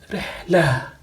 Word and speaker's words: رحلة: When we stop at a word like this, ends with Ta marbuta, we pronounce it like Ha, Rihla. but when we speak it in speech we pronounce it as ta.